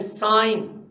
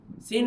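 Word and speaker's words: sine: theta S आई ए साइन सीन नहीं पढ़ना साइन सा थीटा वैसे इसके पूरे स्पेलिंग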